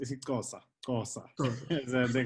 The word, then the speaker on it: isiXhosa: Oh yes, and again in the language it will be pronounced isiXhosa, Xhosa.